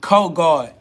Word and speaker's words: Ko God: I am KO God. Is I am co-God.